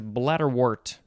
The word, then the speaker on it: bladderwort: All right, next is bladderwort. 1 word, wart is spelled W-O-R-T, noun from circa 1815.